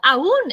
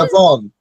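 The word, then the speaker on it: עוון: I thought awun is the, or awun, I don't know how to pronounce it.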